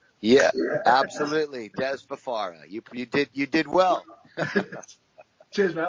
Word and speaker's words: Dez Fafara: The one and only, I hope I'm pronouncing this right, Dez Fafara. Yeah, absolutely. Dez Fafara.